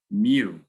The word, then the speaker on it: mu: represented by this funky looking u which is pronounced mu no way sorry mu it's lowercase m n is the number of